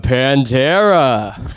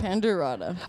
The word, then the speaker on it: Pandera: two we have Panda did I pronounced your name wrong yeah little bit yeah you're just missing Pandora so Pand you're missing aada aada Pandera oh Pandera so Sor happens almost all